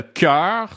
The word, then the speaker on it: cœur: Le cœur se prononce a-e. Le cœur, a-e, a-e.